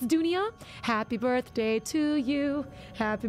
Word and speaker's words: dunia: uh world doesn't it Dunya in Malay we have the we spell it differently d-u-n-i-a Dunya which means World it means